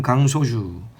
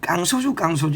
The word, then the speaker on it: 강소주: 그럼 강소주 우리가 깡소주 이렇게 많이 발음을 하잖아.